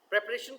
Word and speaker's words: preparation: प्रिपेयर इसका जो है वो वर्ब है, लेकिन आप देखें प्रोनाउंसिएशन में जो है फ़र्क है। जो वर्ब है उसको हम पढ़ते हैं प्रीपेयर, बट जो नाउन है उसको हमने पढ़ना है प्रेपरेशन।